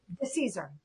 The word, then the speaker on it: DeCesare: So Hilary DeCesare, oh God, I forgot to ask the pronunciation of your last name. DeCesare? Is it DeCesare? What is it? DeCesare.